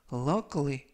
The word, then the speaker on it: luckily: Luckily, 이때 발음에 유의하실 것은 K 발음이 크가 아니라 끄, 그리고 I가 묵음은 아니지만 발음이 거의 나지 않습니다. 그래서 luckily가 아니라 luckily, luckily 뜻은 다행히도 라는 뜻이 되겠고요.